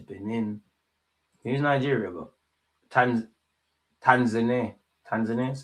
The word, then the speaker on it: Tanzania: Tanzania. That's how you pronounce it.